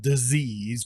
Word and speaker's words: disease: need to understand take the z out of disease because when you pronounce it like that it's almost like they